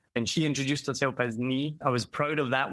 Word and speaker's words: Nhi: And I actually said it right on the podcast because it's NHI, so it's Nee. And she introduced herself as Nee.